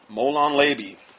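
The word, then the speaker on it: Molon labe: Molon Labi.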